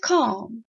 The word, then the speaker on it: calm: now let me have calm when you say calm down I never say calm down stressing the L it shouldn't be uttered it shouldn't be enunciated so make sure you